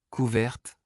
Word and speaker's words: couverte: Par exemple, pour l'adjectif masculin couvert, la consonne finale T n'est pas prononcée. Cependant, dans la forme féminine, la présence de E à la fin oblige à prononcer le ET final.